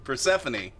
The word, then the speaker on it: Persephone: also told us that uh i uh i'm pronouncing that per person i love that all of you always mess up this name persephone persephone okay persephone uh was missing at least